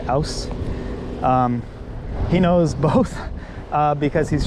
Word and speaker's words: aus: and with Christian, and Christian often will say ouse, because it's easier for Christian to say for some reason. But I will often say out, which I think is actually an incorrect pronunciation.